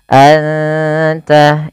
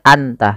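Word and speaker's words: أنت: dua harakat innaka anulim Anta ikhfa Hakiki suara nunnya samarkan kata dan tidak boleh dijelas tidak boleh Anta tapi anta anta langsung ke makhraj daripada huruf ta inaka anulim asamiu ada bacaan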